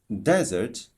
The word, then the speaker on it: desert: For example, desert, the stress is on the first syllable, while dessert on the second syllable.